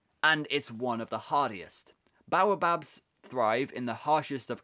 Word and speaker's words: baobab: Baobab. It's the bidibab tree, Edwin pronounced slowly and impatiently.